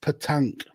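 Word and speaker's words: pétanque: And it's Dan says it's pronounced Petanque. Oh yeah, I see that now. Petanque, yeah. Okay. I know words. Yeah, it's not how it's spelled at all, but that's the French for you, isn't it?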